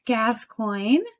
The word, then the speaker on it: Gascoigne: I'm here today with a very special lady, Gascoigne.